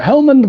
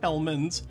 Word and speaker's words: Helmond: No, it's not spelled. It's spelled His name is differently. Helmond, not Hellman's.